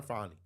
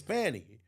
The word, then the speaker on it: Fani: not calling her fonnie I'm not calling her fonnie sorry I'm not it's Fanny her name is spelled like Trump said her name is spelled Fanny it's spelled Fanny her name